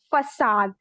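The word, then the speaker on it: façade: But everyone, the pronunciation of this word is facade. ठीक है? It is not facade or something else, it is facade.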